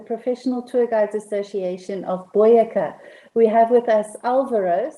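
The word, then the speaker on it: Boyacá: joined by the professional tour guides association of boyeca we have with us alvaro so alvaro welcome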